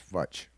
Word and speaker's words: Futch: Hutch, pronounced like Hutch, but it's Futch.